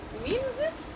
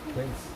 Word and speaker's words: quince: Winzes? Quince.